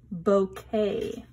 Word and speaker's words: bouquet: That's her bouquet. I'll give you a hint. Look at that word. Remember buffet? Bouquet is another word. I think they're French, and we pronounce it the way that they do.